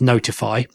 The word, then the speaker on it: ntfy: But then I looked into a project called NTFY, which I'm going to pronounce as Notify, which is something that I've been aware of for a few years.